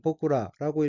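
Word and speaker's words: 僕ら: 다음 얻기는 한자가 종복자이고 일본어로는 복구라고 읽으며 복구라는 나란 뜻인 복구 플러스 복수를 나타내는 전묘라로 된 어로 복구라는 우리라는 의미입니다.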